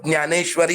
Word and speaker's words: ज्ञानेश्वर: गया आपके इसमें लेकिन मैं मराठी में ज्ञानेश्वर बोलूंगा अब ये थोड़ा सा हमें उच्चारण प्रनंसीएशन प्रनंसीएशन थोड़ा सा हमें सुधारना होगा यहां जो रहेगा न्यानेश्वरी रहेगा ज्ञानी ही रहेगा बोलने